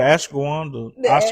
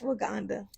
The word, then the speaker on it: ashwagandha: But yeah, the Ashawanda Asha, how you say? Ash ashwagandha. I mispronounce it all the time.